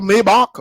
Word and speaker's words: Maybach: you never bought a Maybach before to know that it's pronounced Maybach from William Maybach.